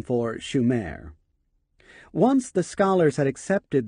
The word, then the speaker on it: Sumer: and their land Sumer except for mispronouncing the name it should have been Schumer not Sumer opet was right Sumer was